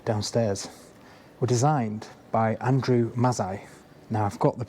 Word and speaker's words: Mazzei: the Galleon bar downstairs, were designed by Andrew Mazzei. Now I've got the pronunciation of that right, I was panicking about that.